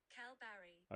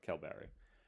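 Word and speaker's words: Kalbarri: Pronounce Calbarry. Calbarry. Okay, I had it right. Calbarry.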